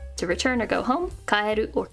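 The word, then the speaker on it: 帰: This means to return or go home, kaeru or ki.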